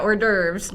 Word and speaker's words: hors d'oeuvres: It looks different than the pronunciation. Correct, Daniel Barrero. Right. Yeah, hors d'oeuvres.